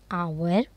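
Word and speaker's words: hour: यहाँ पे ए इज़ यूज होता है before such words which have their first letter silent, जिसका फर्स्ट लेटर जो है साइलेंट होता है, and give the sound of the vowels eight start. An आवर, an honest, N एयर, N hotel, N honourable man.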